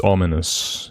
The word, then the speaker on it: ominous: Yeah, there's a there's a U in there. There is a U in aminuous. I suppose that's a good way to remember how to pronounce that, right? Because there is no U in there.